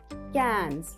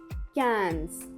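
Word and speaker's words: quinze: Coming to number 15, Q-U-I-N-Z-E, cans. Repeat after me. Q-U-I-N-Z-E, cans.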